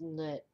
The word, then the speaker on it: Nut: She which is usually, I think, pronounced Nut. Nut.